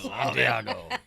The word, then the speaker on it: Santiago: You got to say it like that. Santiago. It's cool.